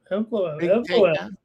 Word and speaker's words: Evloev: Think I pronounced that okay? Yeah, Evloev.